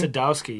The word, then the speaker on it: Sadowski: of this podcast uh it is uh sadowsky pronouncing that right sadowsky sadowski yes okay just making sure i don't want